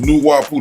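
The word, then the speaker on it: Nuwaupu: Nawapu is pronounced Nuwapu.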